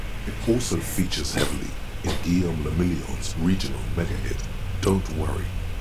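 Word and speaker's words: Guillaume Le Million: If it doesn't rhyme, you're not pronouncing it right. Guillaume Lamillion.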